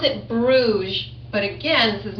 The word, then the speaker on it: Bruges: Those of you who are still sounding out, B-R-U-G-E, and it has a silent S.